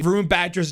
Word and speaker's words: Varun Batra: Riot is showing here, I believe this is the official pronunciation of Harbor's name. I've been getting absolutely clowned on lately by Indian fans on how to say Varun Batra's name for months now